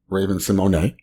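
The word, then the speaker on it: Symoné: Oh, there's an accent on the E.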